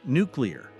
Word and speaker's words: nuclear: Yeah, nuclear. The museum had an interesting exhibit about the history of nuclear weapons. Nuclear. So really focus on that clear part.